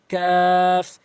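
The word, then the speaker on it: كاف: এভাবে উচ্চারণ করবেন। এরপর রয়েছে হচ্ছে কাফ।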